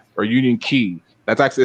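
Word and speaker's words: Union χ: is the Kingdom Hearts Union X or Union Key. That's actually it's not X, it's Key, because that's how they pronounce the X in the game.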